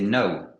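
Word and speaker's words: know: c'est ça sauf que le il ne se prononce pas donc c'est no no ok donc c'est savoir donc au préérite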